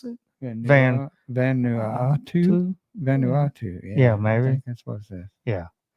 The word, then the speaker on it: Vanuatu: I've tried I think that's the way you pronounce it vanu Vanuatu yeah yeah maybe this yeah so uh land